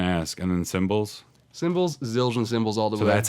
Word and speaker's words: Zildjian: I was gonna ask and then cymbals cymbals Zildjian cymbals all that's how you say it I was it I wasn't gonna ask is this is ill Jen I didn't know how to say it for